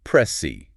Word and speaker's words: PRECI: And it's pronounced press C like the C.